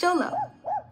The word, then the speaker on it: xolo: and here's my dog - xolo (pronounced sholo) I live with my mama, papa, parents, brother, grandma, Aunt Elena, and 2 cousins.